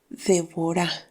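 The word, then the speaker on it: דבורה: en Israel llamada Débora y en hebreo se pronuncia devora y significa abeja Así que era juez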